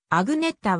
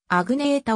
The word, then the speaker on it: Agnetha: あぐぬさやアグネッタは英語読みアグネータおよびアグニ瑛太がより現地語の発音に近い彼女は 1950 年